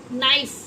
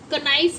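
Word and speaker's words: knife: जैसे कि देखो नाइफ, इसको आप कनाइफ नहीं पढ़ेंगे ना आप इसे NIFE लिखेंगे। के साइलेंट है तो इसे आप क्या बोलते हैं, नाइफ।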